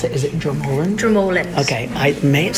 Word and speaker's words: Dromoland: So she's coming to rock with us tomorrow at the Dromoland Castle.